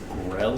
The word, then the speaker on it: Grell: Grell? Mm-hmm. Spell that. Grell. Pretty much like I thought. Awesome. Yeah. It's spelled like how it sounds.